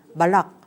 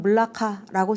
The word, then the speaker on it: 말라카: 그리고 또 뭐 현지 사람들의 말을 들으면 뭐 말락 뭐 이런 식으로 발음을 하기도 하고요. 근데 이제 우리는 그냥 한국어 발음에 적절하게 가장 이제 비슷하게 말라카 이렇게 그냥 씁니다. 뭐 때에 따라서는 물라카라고 쓰기도 하고요.